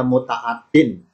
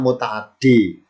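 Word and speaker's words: مُتَعَدِّي: dinamakan kata kerja nya namanya mutaadin bacanya mutaaddi secara bahasa mutaaddi pengertiannya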